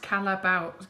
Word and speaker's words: Callebaut: remove any hot spots I was right it's pronounced Callebaut caliber as a callable them so I said